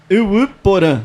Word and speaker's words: Yvy Porã: Vamos ver se eu acerto a pronúncia. Uruporã.